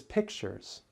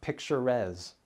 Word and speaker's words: pictures: people I've met recently notice that we do not add syllable the word is pictures not picture res or picture s the letter e is